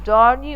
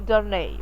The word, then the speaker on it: Darnay: they said before that you can say darny or darnay okay don't both pronunciation or correct when they were dining